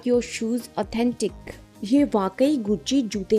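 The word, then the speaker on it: Gucci: duplicate गुची belt मिली गुची एक Italian fashion brand है इसका प्रोनाउंस एशन होता है गुची सो इसको इंग्लिश में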